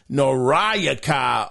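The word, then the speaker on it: Noriaki: so well with names his name is nayaka it's spelled n o r i a k i nayaka uh okamura um he responded to to the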